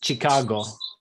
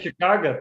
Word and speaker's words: Chicago: words Chicago and Michigan, because in English they have the French sh sound for ch, but when people speak Russian, it's Michigan, and it's Chicago. A lot of people say Chicago too.